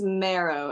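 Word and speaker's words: Mehro: that say that again his name's marrow it's like pronounced like marrow bone marrow but spelled m-e-h-r-o haven't heard of them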